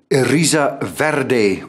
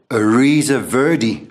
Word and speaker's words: Eriza Verde: at and this is the erisa verde or ariza verdi whichever way you like to pronounce it and i believe the